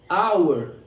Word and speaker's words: our: próximo adjetivo é o adjetivo our our que tem o mesmo som a palavra aula que significa hora porém se escreve sem o h então por exemplo de